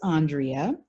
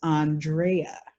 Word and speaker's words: Andrea: you the name story my name is Andrea or Andrea or Andy and the reason it's those three is my fifth grade teacher said the correct French French pronunciation is Andreea so it's time then